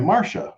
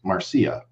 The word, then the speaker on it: Marcia: day i was i posted a video about marcia fudge i was pronouncing it marcia because it's okay a-r-c-i-a okay and and somebody corrected me and they said well actually it's pronounced marcia and i was like well